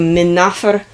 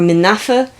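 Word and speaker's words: Men-nefer: I don't remember which one, but in ancient Egyptian, it would have been pronounced something closer to Min Nofer or Min Noffa, which means enduring and beautiful.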